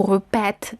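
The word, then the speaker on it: répètent: Pero en il, elle, en plural, regresamos al mismo cambio de los acentos para poder pronunciar la E alargada, porque la terminación ENT no se dice, no se pronuncia.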